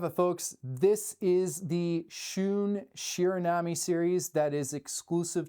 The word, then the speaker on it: Shun: And it wasn't until recently that someone said, actually, it's Shun like moon.